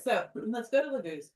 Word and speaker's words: Laguz: All right, so let's go to Laguz. Laguz. The accent is always on the first syllable in the Elder Futhark runes.